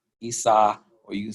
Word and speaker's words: Isa: It's spelled I-S-A. Isa.